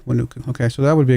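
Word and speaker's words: Huánuco: Wanaku. There's Wanuku. That would be a decent one, I guess. Did I just mispronounce it? I did. Wanuku.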